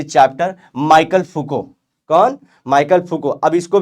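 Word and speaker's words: Foucault: ऐसा नहीं करना बच्चों, माइकल फुको इनका नाम है। अब इसका नाम भी आप लोग देखो, जो स्पेलिंग बता रही है इसके हिसाब से भी बच्चे बोलते हैं, गाली वाली देते, बाद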